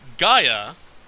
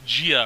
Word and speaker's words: Gaia: titans and said that gaia is not how you pronounce pronounce the titan's name and she hates it when people pronounce it that way she said it's pronounced um like gia or something like that so yeah it kind